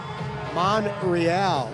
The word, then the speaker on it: Monreal: He said Benji Monreal, like Real Madrid.